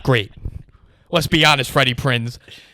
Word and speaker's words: Prinze: freddie prinze not great now you're putting a prince on there is that how it's pronounced i believe so do you i've always prints like well it's a z is it a z yeah because i looked it